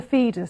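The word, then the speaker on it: Foedus: Pronounce the name of the river. The Feedus. It is the river Feedus.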